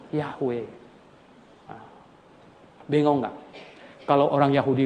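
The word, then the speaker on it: Yahweh: yang bener itu jeho Jehova ihwal bilang apa Hahaha Orang jahudi sudah lupa J ya jhv itu mereka lupa bacanya Yang bener bacanya itu adalah ya yahwe dengan enggak Kalau orang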